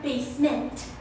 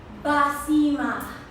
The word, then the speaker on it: Basima: It's Basima. No, not basement. Basima.